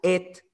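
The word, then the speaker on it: את: login y ésta está esta palabra et en el hebreo así se pronuncia et se podría traducir como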